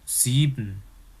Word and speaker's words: sieben: Kemudian S Jerman itu kemarin pelafalannya dalam kalimat itu kayak huruf Z dalam bahasa Indonesia ya. Misalkan apa? Kata 7 dalam bahasa Jermannya sieben. Kemudian sabun dalam bahasa Jermannya Seife.